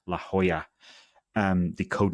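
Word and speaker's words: La Jolla: to can it Andrew Tech telling me it's pronounced La Hoya um the code name of this headset so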